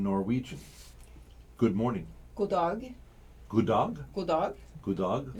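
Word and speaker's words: god morgen: good morning go dog good dog good dog good dog sounds almost like good morning it does sounds like a good dog you got a good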